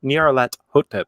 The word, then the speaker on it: Nyarlathotep: just how he appears or Nyarlathotep as he likes to insist on the correct pronunciation I have generally portrayed